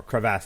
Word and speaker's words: crevasse: they fall into the crevice or crevasse as it's pronounced um so this is